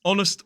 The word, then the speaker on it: honest: Also, there are some words that have a silent H, like honest, honourable, and hour.